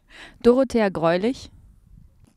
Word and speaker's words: Dorothea Greulich: She's going to pronounce her name how it's actually pronounced because no one else can. Dorothea Greulich.